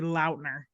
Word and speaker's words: Lautner: I saw TikTok the other day that Taylor Lautner said it's supposed to be Launer.